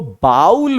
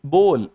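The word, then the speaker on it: bowl: ना कटोरा ये इसको बाउल पढ़ते हैं बहुत सारे बंदे बट जो बाउल पढ़ते हैं वो गलत पढ़ते हैं इट्स बोल नॉट बाउल अगर आप पहले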